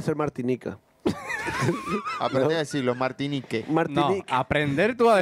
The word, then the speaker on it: Martinique: Aprende a decirlo, Martinique. Martinique. No, aprender tú a decirlo, es Martinica. Te lo Google. Se escribe Martinique, pero se dice Martinica.